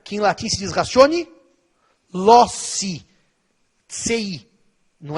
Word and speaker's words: ratione loci: Os que usam a pronúncia italianada diriam ratione loci, mas a gente usa a pronúncia aportuguesada. Ratione loci.